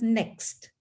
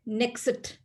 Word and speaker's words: next: that in english language they pronounce as next but non-native speakers non-english speakers usually say nexit next nexit so they try to